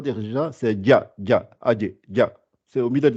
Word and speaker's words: ج: Il ne faut pas appuyer. C'est adje. Juste rebondir et revenir.